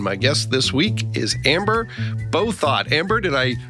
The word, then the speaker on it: Bouthot: I'm Anthony Giuliano, and my guest this week is Amber Bouthot. Amber, did I pronounce that correctly?